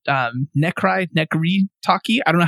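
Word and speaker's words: Necry Talkie: There's a band called Nekri Taki. I don't know how to say their name. Taki, like walkie-talkie for that second word. And the first one is Necry.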